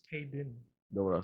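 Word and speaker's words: Kayden: Man, Kayla Carter, man, with her good looking self. He said her name wrong. Kaylin? It's Kaden.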